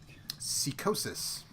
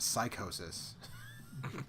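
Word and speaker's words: Psicosis: tracksuit was the WCW luchador that had horns on this man psychosis yes sir it's often incorrectly pronounced psychosis by the people in WCW often let's do what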